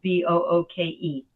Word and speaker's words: Booke: His last name is spelled Booke. Steve Book.